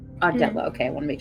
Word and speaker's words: Ardala: Ardala. Ardella.